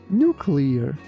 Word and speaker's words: nuclear: Be careful with the pronunciation of letter U.